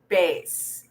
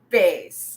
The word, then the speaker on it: bass: have a deep voice it may again appear to have the same spelling as the best as in sea bass the fish but it is pronounced differently because it's pronounced as bass say it with me